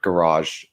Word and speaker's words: garage: Garage, and which is funny because Americans actually pronounce it more originally, like, because it's a French word, garage.